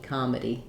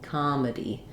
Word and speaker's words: comedy: we have two choices one in a word like comedy or tragedy um we have the i d Sounds here so um we're going to have the last syllable is going to be the D and the e sound together D comedy comedy um so in comedy